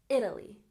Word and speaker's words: Italy: and Italy has stress on on the first syllable Italy Italy very good so let's look at some